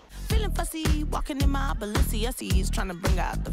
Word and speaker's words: Balenciaga: 叫做 Balenciaga。